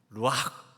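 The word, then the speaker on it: רוּחַ: 루 아 아 아 원래 이렇게 그 허스키 약의 그렇게 발음을 해야 된다고 합니다 루와 한번 따라서 해보시기 바랍니다 루와 이제 성령의 바람 성령의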